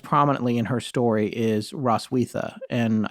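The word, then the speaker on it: Roswitha: in her story is roswetha and i say that forrest tells me i might be pronouncing that wrong but i actually knew a ross wiether from germany and that's how she said it at least here in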